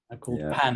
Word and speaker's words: pain: Well, it's pronounced pan.